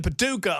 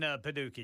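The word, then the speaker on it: Paducah: I got in-laws in Paduka. Yes, sir. He uh I said it wrong, Ken. The way you're supposed to say that if you're going to say it with that southern draw.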